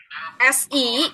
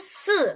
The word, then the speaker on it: 四: se itu SI, kita bacanya se ya, bukan si ya.